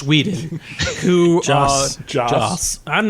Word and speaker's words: Joss: Josh Whedon, who... Joss. I'm not going to get it right. It doesn't The matter.